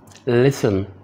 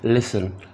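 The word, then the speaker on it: listen: लिसन आम फहम word है, इसमें टी की साउंड नहीं है, टी साइलेंट है, लिसन सुनना।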